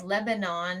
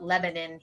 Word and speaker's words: Lebanon: It's Lebanon is how everywhere else would say it, but they call it Lebanon here.